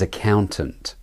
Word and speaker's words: accountant: The next word is accountant. Accountant. Accountant. Both A vowels are de-stressed. Tunt. Not ak and tant. The ow is the clear vowel, and so it's the stressed syllable.